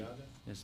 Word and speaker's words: Rudiaga: Engel, So I think he pronounced it, Angel Rudiaga is the way he, Rudiaga?